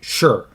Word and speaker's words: Shi: Because I know, Shima Yi's son, his name in English is spelt S-H-I, but it's pronounced Shur.